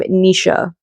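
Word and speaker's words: Naoise: Then I read Exciting Times by I learned how to pronounce his name, Nisha. I'm pretty sure it's pronounced Nisha.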